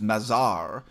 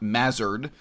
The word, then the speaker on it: Mazar: way you know so my name is Mazar not mazzard but you know I'm